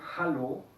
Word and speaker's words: hallo: Puse en la lista por la doble L, que en español tiene otra función, no es como la L. En alemán sí se pronuncia como la L, pero el vocal antes debe ser corto.